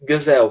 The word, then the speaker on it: gazelle: Quase todas as palavras em inglês que terminam em LE tem esse som de L no final, né?